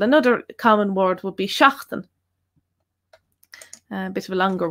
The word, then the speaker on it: seachtain: So it's E there, so seachtain, seachtain. Doesn't matter how you pronounce the rest of it again, depending on dialect. If you pronounce it a bit differently from how I pronounce it, still it's going to be, the first letter is going to sound the same, or should do anyway, seachtain.